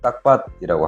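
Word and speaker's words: ຕັກບາດ: 탁발의 라오스식 발음은 딱밭이라고 합니다.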